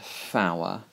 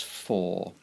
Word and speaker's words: four: So don't pronounce that four, it's for.